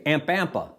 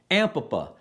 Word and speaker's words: Ampapa: Ampapa. No, see, I said it wrong. Ampapa.